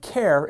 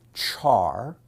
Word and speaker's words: char: in Java the type care is a primitive type like int Boolean and double some people pronounce it char some people pronounce it car and some people say care but everyone says the